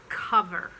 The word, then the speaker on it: cover: some people not som and cover it's spelled with an o so you think i must call for this but it's cover and same with other